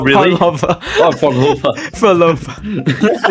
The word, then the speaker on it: Phrolova: like- Dude, you're pronouncing Phrolova's name wrong. It's Phrolova, not really? Phrolova. Oh, Phrolova. Phrolova. It's a PH. It's a Fro. It's a Phrolova.